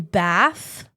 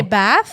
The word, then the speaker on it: Bath: Which is pronounced Bath. I know this because I did a show. Like, people want to say Bath, but it's pronounced Bath. But Bath is the way you say it if you're British.